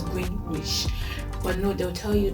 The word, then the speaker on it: Greenwich: So the thing is with the British people, they don't pronounce as spelt. Take for example, Greenwich. That's how it is. So Greenwich. So it's green and then witch. Typical Nigerian, but it's Greenwich.